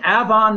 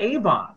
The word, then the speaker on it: Avon: Okay, and it's pronounced Avon, not Avon.